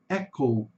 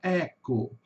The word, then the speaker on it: Echo: detalhezinho aqui, que é a palavra echo. echo. Em português nós falamos echo. Echo, o O fechado, o O já termina no O, né? Echo.